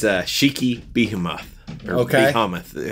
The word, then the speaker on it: Behemoth: Behemoth. How do you say that? B-E-H-E-M-O-T-H. Behemoth?